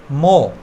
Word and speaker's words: more: মো এখানে দেখতে পাচ্ছি লাস্টে যদি আমরা আর ই পাই একসাথে তাহলে আমরা আটাকে সাইলেন্ট রাখবো, তাহলে এখানে দাঁড়ালো কি মো।